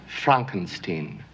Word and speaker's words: Frankenstein: So much so that he insists on having his last name pronounced in a different way. My name, it's pronounced Frankenstein.